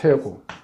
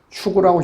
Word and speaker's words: 퇴고: 퇴고. 밀퇴 두드릴고 퇴고. 이때는 일반적으로 퇴고라고 읽죠. 추구라고 읽기도 하지만 퇴고라고 읽습니다.